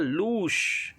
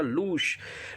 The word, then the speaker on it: lose: एक वर्ड है LOSE, इसका उच्चारण होता है लूश, उच्चारण जानना लूश।